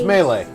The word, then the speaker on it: melee: call said just curious am I the only person who pronounces melee melee no it's it's melee it's a French word invad